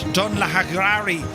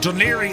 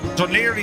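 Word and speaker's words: Dún Laoghaire: That's called Duniri. Uh, it's always funny when you look at the name of how it's spelled, Dunlakari. H, but Duneri is how you pronounce it.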